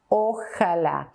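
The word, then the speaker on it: ojalá: is the Arabic word the Arabic word is pronounced by more or less inshallah and in Spanish it is o Allah because Allah is the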